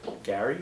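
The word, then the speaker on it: Garry: AR is by uh Gary or Jerry Gary Gary Brown when do you get Jerry from that it's Prett it's spelled g a r r y and Isaac got Jerry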